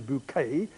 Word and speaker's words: Bucket: Higher Synth Bucket, which she pronounces bouquet in the BBC series Keeping Up Appearances?